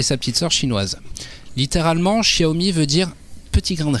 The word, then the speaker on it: Xiaomi: Xiaomi. C'est comme ça qu'on prononce.